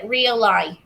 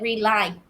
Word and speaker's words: realize: notification, Ok, realize chứ không phải rely. Realize nó có chữ R ở giữa.